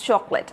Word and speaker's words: chocolate: Many of you pronounce it as chocolate, which is completely wrong. It's chocolate. So, o, choco, যদিও এখানে একটা ও আছে, but when we are going to pronounce it, we are not going to use that.